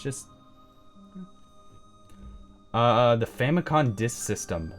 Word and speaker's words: Famicom: thing it's just the Famicom disk system Famicon I know I say Famicon because that is how you say it in Japanese but I know for